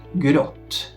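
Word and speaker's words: gråt: z kółeczkiem nad sobą krótka wersja znowu tutaj nie ma większej filozofii na szczęście wymawiana jest mniej więcej polskie o po prostu na przykład Grot czyli odmieniony przymiotnik szary Długa wersja z kolei to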